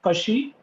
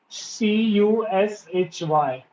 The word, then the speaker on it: cushy: as well okay so the first word was kashi c-u-s-h-y okay it's an adjective and it's mean it